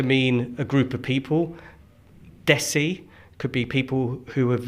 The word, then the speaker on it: desi: So, so like it's desi and it it's like rhymes with messi. Messi. That's the best way to do it. So, so aim for Lionel Messi and say Desi.